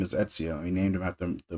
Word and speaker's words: Ezio: Etsio. Um, and a lot of the vets, they didn't know how to say his name. Eio, IO, whatever.